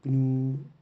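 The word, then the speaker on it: GNU: यसलाई चाहिँ ग्न्यू उच्चारण चाहिँ यसको ग्न्यू जेनरल पब्लिक लाइसेन्स भन्छौँ, यसलाई चाहिँ ग्न्यू प्रोजेक्टले भेट्दछ।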